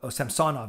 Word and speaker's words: Samsonov: And then for the Samsonov is how they say it.